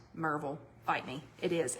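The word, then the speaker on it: Maryville: And it is pronounced Marvel. Bite me. It is. It's Marville.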